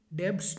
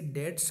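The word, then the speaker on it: debts: देखो, इसे डेब्ट्स नहीं कहते हैं, इसे डेट्स कहते हैं। जो आप पे कर्जा होता है इसका सही प्रोनाउंसिएशन होता है डेट्स।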